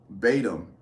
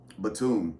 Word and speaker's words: Batum: rebounds six assists uh I can always butcher his name Nicholas btim I think that's how you say it Batum I think it's Batum he outstanding had uh